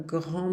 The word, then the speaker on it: grand: O D não se pronuncia também, não. Um grande barco quando vocês quiserem. Beleza. Na frente de uma vogal, vou ter que fazer a liaison. E esse D vai ter um som de T de tatu.